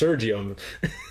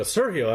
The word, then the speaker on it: Sergio: I'm like, no, it's pronounced Sergio. She'd get mad at me. She would go, Sergio. I'm like, I think I know how to pronounce my own name.